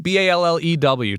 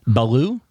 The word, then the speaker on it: Ballew: Neil Ballew, Ballew. Ty, what are we thinking that's pronounced like? Baloo? Baloo, like Baloo the bear from the Jungle Book?